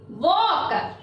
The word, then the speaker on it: walk: It is walk. W-A-L-K. Yes, walk. Which letter is silent here? It is also seen. L.